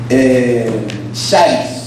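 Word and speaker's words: χάρις: Se pronuncia charis o charis. ¿Cómo la pronunciación? Es como local. Charis. Ese es el griego y significa gracia. Ese era el saludo típico griego. A donde fuera un griego, charis.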